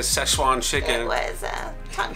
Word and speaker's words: Szechuan: But if you watch the sail away video, we had some trouble saying Szechuan chicken.